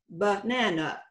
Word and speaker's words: banana: But in English, because the stress falls on the middle syllable, the first and the last syllables are unstressed, and they are schwas. Banana is the way we would pronounce it.